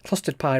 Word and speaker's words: Clustered-Pi: And yes, clustered pie rhymes with custard pie.